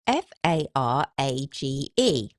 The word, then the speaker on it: Farage: So, as far as I'm concerned, F A R A G E rhymes with G A R A G E.